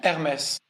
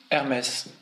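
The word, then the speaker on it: Hermès: So the emphasis is on the second syllable. Hermes. Again? Hermes. Again? Hermes.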